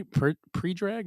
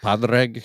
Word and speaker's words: Padraig: My good is this how Predrag? Is how you pronounce his name? Predrag Harrington? I think so. Is that he looks like Right. that? Padraig.